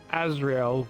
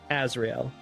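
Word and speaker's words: Asriel: It's AS. But which one's AS? Azrael. Like Undertale for lack of better description on how to spell it out. As S R I E L.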